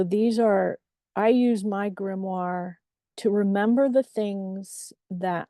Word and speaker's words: grimoire: screen if you're uncertain about this word it's pronounced grimoire and if you look it up in the